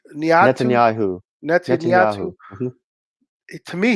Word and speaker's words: Netanyahu: Niatu? Netanyahu.